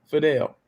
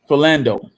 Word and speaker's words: Philando: let a police officer walk after he killed Fidel. Did I say his name right? Yeah, I think that's how you say it. Philando.